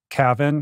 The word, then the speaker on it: Cavan: So it's, the town is called Cavan. How do you pronounce it?